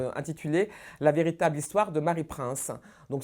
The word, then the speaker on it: Mary Prince: bonjour bonjour vous interprétez Marie prince que l'on voit derrière vous je le prononce à la française comme vous oui moi